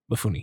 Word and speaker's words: Mifune: Mifune, yeah.